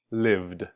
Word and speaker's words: lived: is voiced, like v, then the ed sound is pronounced with just the sound d. Live, lived. Live, lived. And notice it's still one sound, one syllable. Live, lived. Live, lived. We just added an extra d to the end.